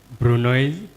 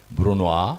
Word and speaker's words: brunoise: Julian, Brunoise, You have to pronounce well. Brunois, Bruno, Brunois, Bruno, Macedon, no.